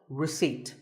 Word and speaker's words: receipt: in word number 24 receipt the P is silent when you purchase something